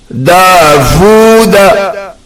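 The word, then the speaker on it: داوود: In this, u should not be pronounced, but it should be vu, not u. Davuda, not Dauda. Davuda.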